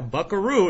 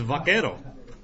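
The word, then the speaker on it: vaquero: in the wild west Buckaroo is an English bastardization of the word veto wow yeah Buckaroo is vako it is mispronounced it over time but vako is a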